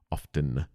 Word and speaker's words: often: Often. I'm pretty sure if you look up the pronunciation, it is technically often. The T is silent.